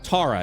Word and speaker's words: Thara: Tara is how it's pronounced, I apologize.